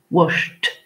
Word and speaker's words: washed: Et quand le son de la finale de la base verbale est sh, alors le ED se prononce t, ce qui va nous faire washed. Ce qui nous fait washed.